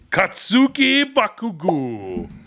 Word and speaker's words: Katsuki Bakugo: It's the My Hero Academia, and I'm going to pronounce this correctly. Katsuki Bakugo.